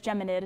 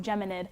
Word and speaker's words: Geminid: By the way, it is Geminid, non Gemini. I was going to ask you that because it is after the Gemini constellation, but it is pronounced Geminid.